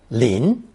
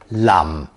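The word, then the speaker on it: 林: Double Tree character is spelled and pronounced lean in Mandarin Lam in Cantonese and Lim in Taiwanese final and in Mandarin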